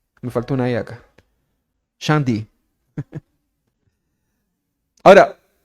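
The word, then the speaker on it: 上帝: Shangdi. Ahora, pronunciemos, juntemos acá a uno de Inglaterra, a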